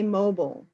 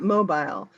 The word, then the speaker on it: mobile: mobile home at all well in the US we we say mobile not mobile so um I am